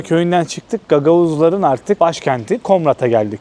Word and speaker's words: Komrat: Komrat'a geldik. Komrat diye mi telaffuzu da?